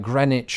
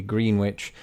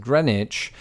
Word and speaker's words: Greenwich: that it should be Greenwich and Norwich now over this idea where we drop the W in words of this ilk there's no consistency across